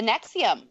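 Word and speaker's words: NXIVM: cult is this one the nexium it's called the noxious cold x IAM but it's spelt NX IVM so I guess it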